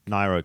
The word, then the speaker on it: Nairo: Britain, second TJ Van Garderen, and in third Niro Quintana. Quintana. I keep getting that wrong. Nairo Quintana.